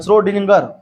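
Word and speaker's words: Schrödinger: गए श्रोडिंगर नाम है श्रोडिंगर श्रोडिंगर देख लिखता है श्रोडिंगर का तरंग समीकरण उसी ने दिया था इक्वेशन दिया उसने इसका नाम की स्पेलिंग बड़ी खतरनाक है एस सी एच श्रोडिंगर ठीक है ना नाम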